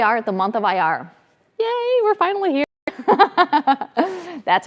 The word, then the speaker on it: Iyar: so here we are at the month of ir yay we're finally here that's how you spell it i y a r um cap last